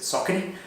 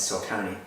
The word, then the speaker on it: Saucony: Apologies for the Americans, it's an American brand, they pronounce it Saucony. But for my viewers and for most people watching, we know it as Saucony.